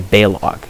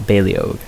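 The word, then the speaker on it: Baleog: by the way because in game he'll say balog not baliog I thought it was balio because he's like Swedish or Dutch you know but no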